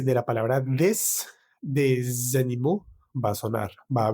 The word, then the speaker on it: animaux: Y en plural, unos animales, vamos a decir des animaux, des animaux. Entonces la AL cambia a AUX y la AUX en español, en francés se pronuncia U.